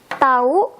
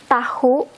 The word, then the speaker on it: tahu: And we use tahu for know. We have to say the H, we have to pronounce the H, tahu.